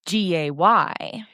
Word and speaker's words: Gaye: He also wanted to distance himself from gay, but I mean, it's still pronounced gay, so I don't know how much the E did there.